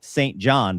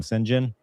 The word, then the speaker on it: St. John: And his brother's name's spelled St. John, but nobody knows how to say St. John, so they all call him Sinjin.